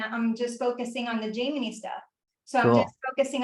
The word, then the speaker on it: Jaimini: I always say Jaimini, but I know it's Jaimini.